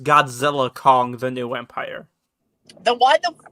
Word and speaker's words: Godzilla x Kong: might my Walmart carried both that and the Godzilla X Kong uh glowin thee dark you mean versus Kong